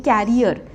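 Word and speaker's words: carrier: ये कर रहे हैं कैरियर सो इसकी प्रोनंसिएशन क्या है करियर इसकी प्रोनंसिएशन है कैरियर इसमें हम थोड़ा सा ई को स्ट्रेच कर रहे हैं कैरियर कैरियर क्या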